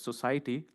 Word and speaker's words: SOCIETY: this uh society framework which is pronounced as society like social open source and